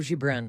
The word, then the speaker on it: Gibran: E eu pensei no Khalil Gibran, acho que é assim que se pronuncia.